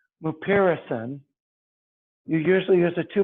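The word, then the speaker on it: mupirocin: talk about in class called uh merpairison morrison is spelled m u p i r o c i n mupiracin you usually use a two percent ointment and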